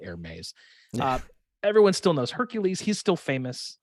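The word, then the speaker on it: Hermès: what purses overpriced scarves if you pronounce it air maze uh everyone still knows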